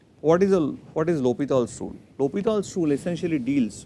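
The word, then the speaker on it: L'Hôpital: called the lal's rule though in India we'll call it l hospitals rule but if you go by the French pronunciation it is called lal's Rule he was a he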